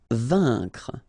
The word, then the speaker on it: vaincre: Vaincre, A-I-N together, here it's un, vaincre.